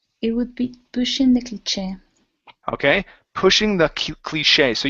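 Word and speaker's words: cliché: very good yeah so that is cliche it's a French word and so we we we would say sh that's okay okay good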